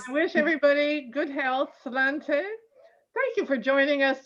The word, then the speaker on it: sláinte: Oh, sláinte. It just means your good health. Clanta, C. Sláinte, sláinte, S-L-A-I-N-T-E. S-L-A-I. A-I-N-T-E, with a fada on the A, which is sláinte.